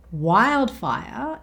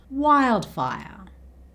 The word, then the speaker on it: wildfire: Wildfire is the word here that ends with the R sound, so it's replaced with the schwa sound. Wildfire, wildfire, wildfire.